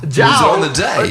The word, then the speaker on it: JAODAE: JAODAE, great band. They sweet guys. It's the accent on the jow. Jow on the day.